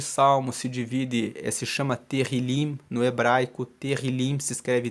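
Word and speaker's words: תהלים: o livro de Salmos se divide, se chama Terrilim no hebraico. Terrilim se escreve T-E-H-I-L-I-M, significa louvores.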